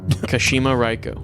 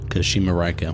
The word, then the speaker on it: Kashima Reiko: Pronunciation. Kashima Reiko. Raiko. Good. Kashima Raiko. Kashima Raiko.